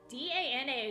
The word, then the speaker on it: Dana: the the pronunciation but that d-a-n-a is also a name it's just pronounced uh when i heard it pronounced it was dana um i'm not sure